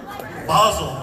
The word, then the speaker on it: Basil: Basil, I call Basil. I'm American over here. I speak English. This is how I pronounce it.